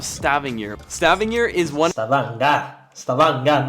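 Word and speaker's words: Stavanger: Stavanga, not Stav Stavinger.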